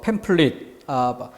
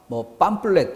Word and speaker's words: 팸플릿: 다음 53번 카탈로그 그리고 팸플릿 팜플렛 이렇게 좀 잘못된 발음이 익숙한 경우가 많죠.